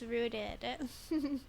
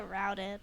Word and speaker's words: rooted: the magnetic reader oh it's pronounced rooted I keep pronouncing it routed instead of rooted play the tape